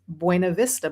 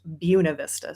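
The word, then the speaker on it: Buena Vista: it it you would think oh it's it's Bu Vista but it's pronounced Buuna Vista.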